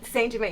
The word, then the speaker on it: St-Germain: I'm like Germaine like Germaine D PRI cuz that's how he was saying it he was he didn't even say it like St Jermain he was Germaine like the homeboy Germaine and I'm like okay